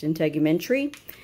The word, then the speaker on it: integumentary: We're starting out with the integumentary system. That's how it's pronounced, integumentary.